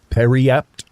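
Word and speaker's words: Periapt: Periap is so the T is not silent or anything. It's pronounced.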